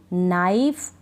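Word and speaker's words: knife: नाइफ निट knock no तो इन सारी spelling में हम कहां पढ़ रहे हैं नीड या किनी या कि नाइफ या इस तरह से नहीं पढ़ रहे नोक ठीक है नॉक और किनो किनो नहीं पढ़ रहे नो तो यह आप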